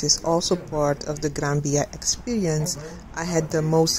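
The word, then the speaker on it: Gran Vía: also wrote across the granbya well you spell it as graphia but you um pronounce it like a b and it's one of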